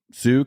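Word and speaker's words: Sioux: is what you said sue County Sue was spelled with an X Sue s iio ux yeah yeah well it's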